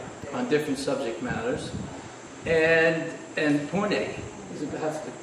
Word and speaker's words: Pune: And Pune, that's the correct pronunciation?